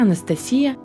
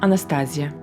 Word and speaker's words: Анастасия: Здравствуйте, я Анастасия, или, как привычнее произносить местным, Анастазия.